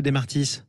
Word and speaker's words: Desmartis: Est-ce que j'ai bien prononcé Desmartis ou c'est Desmartis ? Alors, on dit comme on veut, mais dans le sud-ouest, on garde le S à la fin.